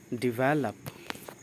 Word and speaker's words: develop: We have a word develop. Yes, इसका correct pronunciation है develop.